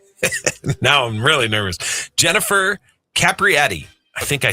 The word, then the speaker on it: Capriati: Jennifer Capriati. I think I said it right. Capriati, yeah.